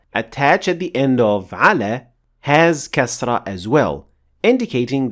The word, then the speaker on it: على: Moving on to the last particle, which is ala, and it means on or upon. Much like ila, it also ends with alif maqsura that you should never forget to pronounce fully.